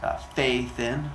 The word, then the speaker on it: Phaethon: Phaethon, but it's pronounced Phaethon, like F-A-Y, and then T-H-I-N.